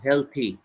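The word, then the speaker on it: healthy: will not বি হেলথি উচ্চারণ কিন্তু হেলদি না হেলথি পরেরটা হচ্ছে বাই রিডিং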